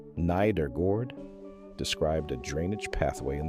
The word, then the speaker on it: Nedergaard: In 2012, a team at the University of Rochester, led by Jeffrey Iliff and Maiken Nedergaard, pronounced neither gord, described a drainage pathway in the brain that nobody had properly mapped.